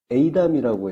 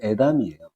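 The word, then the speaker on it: אֵידָם: 그래서 그 환난 당하는 날을 욤 에이담이라고 했었는데 요게 그 제가 주석을 참고해서 에이담이라고 했었는데 다시 보니까 주석이 좀 잘못됐어요. 그래서 에이담이 아니고 이럴 때 발음은 에담이에요.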